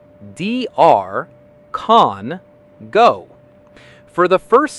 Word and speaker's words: DR Congo: Many people blend the abbreviation incorrectly or misplace the rhythm, but the correct American pronunciation is DR Congo. Let's break it down into three easy syllables. DR, con, go.